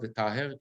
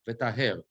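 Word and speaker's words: וְטַהֵר: The word is not v'taher, but v'taher.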